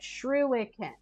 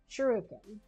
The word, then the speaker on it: shuriken: I pronounced I mispronounced that. Shruiken. Shur shuriken.